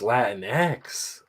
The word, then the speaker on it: Latinx: nobody knows how to say it oh it's latinx which just sounds like spanish porno welcome